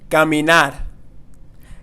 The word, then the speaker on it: caminar: And not caminar. Caminar, no. Caminar. And something that may really help you with the pronunciation of these types of verbs is really focus on the way that you are moving your mouth. So caminar has a different movement of your mouth than caminar.